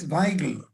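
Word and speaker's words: Weigl: I think that Weigel, that's the way to pronounce his name, and Fleck are example.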